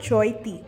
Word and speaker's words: Chaithi: ஸோ இங்கே ராயகடாவில் நடக்கிற district festival பேர் வந்து சோய்த்தி. ஆனால் CHAITIன்னு தான் போட்டிருப்பாங்க. ஆனால் இவங்க ப்ரொனவுன்ஸ் பண்ணுறது வந்து சோய்த்தின்னு ப்ரொனவுன்ஸ் பண்ணுறாங்க.